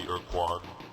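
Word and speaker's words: Ur-Quan: After we, Chenjesu and Mernherm, were defeated by the Urquan. There you go. There's the pronunciation.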